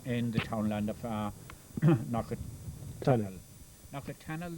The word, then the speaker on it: Knockatonnel: Knockatonnel, the locals call it. Knockatonnel in the maps, and Knockatana are local pronunciations. Yeah. But most of the people who lived here for any length of time call it Knockatonnel. Yeah. There's the L at the end of it.